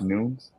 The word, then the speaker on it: Nunes: Actually, did you all know it's pronounced Nunes? Oh, is it Nunes? Nunes. Because of I heard a Portuguese pronunciation Portuguese. because like it's very weird how like they enunciate stuff.